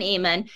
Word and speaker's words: Ammon: My son, Ammon, rhymes with salmon, enjoyed it so much and appreciated all the great craft supplies and ideas.